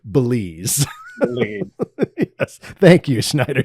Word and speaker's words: Belize: It rhymes with the magic word. And what is the magic word, Veal? Lazy Susan. Please. Please. Oh, it is right. Belize.